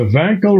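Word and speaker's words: Wankel: there you go the vanl rotary engine oo great guess with authority with authority I likeed your pronunciation thank you thank you very much W pronounced as a v that was that was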